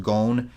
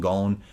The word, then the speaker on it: Gon: That is why Nick, it's pronounced Gon. Yeah, dude. I used to I used to pronounce it like Gone, but if you go back and watch my